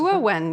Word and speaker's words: Gehua: This is a very nice move by Gehua, if that's how you pronounce it. Gehua, yeah. Yeah.